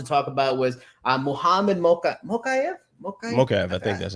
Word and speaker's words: Mokaev: Mokaev, I think that's how you pronounce it. Mokaev, yeah.